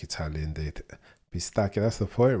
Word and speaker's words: pistacchio: Just read it with a K and you're fine with the pronunciation. Pistacchio.